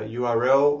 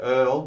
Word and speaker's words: URL: with the concept of a URL or an Earl depending on how you want to pronounce it or a uniform resource